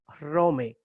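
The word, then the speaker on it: Ῥώμη: dos letras equivalentes, entonces es importante emprenderse que Rome es con Omega, no con Omicron, y es con Eta, no con Epsilon. Rome.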